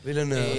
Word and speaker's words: Villeneuve: Ah, lo pronuncié mal. Villeneuve.